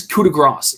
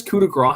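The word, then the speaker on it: coup de grâce: de grace he says he says coup de grasse like it's weird he says it he'll but he only says like half the time he says kuda grah half the time the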